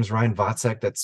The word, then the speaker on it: Waczek: yes so once again my name is Ryan vek that's spelled w a a c z k if